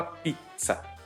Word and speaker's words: pizza: É uma palavra bem italiana e o som dela é como se fosse um TS, né? Então você fala pizza.